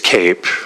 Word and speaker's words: CAPE: Um so what is CAPE? uh question you might ask, you may have heard the the term and why do we spell it that way if it's pronounced cape uh just by tradition